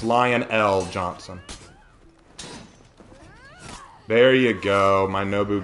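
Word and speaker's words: Lion El'Jonson: R random Warhammer question is it pronounced lion Johnson or lion l Johnson it's lion l Johnson there you go my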